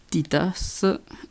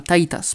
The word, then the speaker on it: Titas: Et à côté de ça, les nouveaux Ultras, donc Taiga, Titas et Fuma. Ah oui, je le prononce très mal, hein, Taitas plutôt, ce serait mieux.